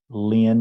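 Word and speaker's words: Lyne: hand raised and uh their first name is Lynn if I'm pronouncing that right probably not l-y-n-e go ahead please l-y-n-e hello my name is Lynn I'm from Quebec and I work for a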